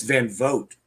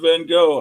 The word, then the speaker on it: Van Vogt: It's Van Vogt. It's Van Vogt, really? Mm-hmm. I always pronounce it Van Gogh.